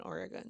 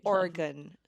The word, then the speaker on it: Oregon: That's just He wants me to find Oregon. What? That's how they say it. Oregon. Oregon. Yeah. Like an organ. Oregon. Yeah. You don't say Oregon.